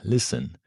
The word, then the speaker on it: listen: You've probably seen it in words like listen, castle, fasten, whistle, moisten. And all these words, the T is completely silent.